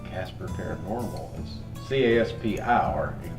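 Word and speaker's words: Caspar: paranormal research team called Casper paranormal CA SP our in case you're wondering though it's not spelled like cartoon just sounds the same so you actually go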